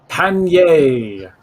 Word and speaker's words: panniers: Panniers. Panier. It's like pan. Yay.